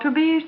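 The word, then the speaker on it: Tubize: are the undies meant for you they're called to bees Chaniz garments which means that the fabric is a tobes and to bees is spelled Tu b i z e rayon pretested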